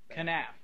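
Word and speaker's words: kenaf: They mentioned the product, pronounce it again for me, Senator Westbrook, Canaf? Canaf.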